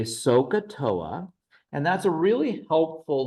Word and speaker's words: SOHCAHTOA: They don't know how to spell that because so doesn't that H sounds silent. The ka, the H is silent.